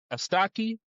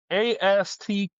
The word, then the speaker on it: Astatke: I okay, have Mulatu Astaki. okay, I butchered the name, but it's Matalu plays Malatu plays Malatu.